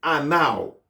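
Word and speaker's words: ענו: mot ça, qui c'est anao, qui écrit A-N-E-U, W. Alors, on dit Anao.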